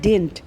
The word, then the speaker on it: didn't: ये होता है डिडंट. इसमें सेकंड डी बोला नहीं जाता, साइलेंट रहता है.